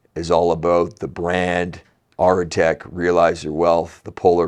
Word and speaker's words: Aretec: Yeah, and I think you look at the name when people are sort of, some people have pronounced Aretec or Arctic, which is fine too, right?